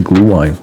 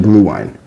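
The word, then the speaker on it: Glühwein: Anyway, let's move along cuz we got to we we got to get to the glue wine.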